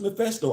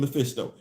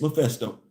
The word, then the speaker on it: Mephisto: It's pronounced Mephisto. All this time I've been saying Mephisto. It's Mephisto.